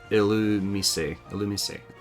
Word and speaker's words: Illumise: Illumise. Okay. I was gonna say, oh, I could check the Japanese name for pronunciation, but that's they're not one-to-one.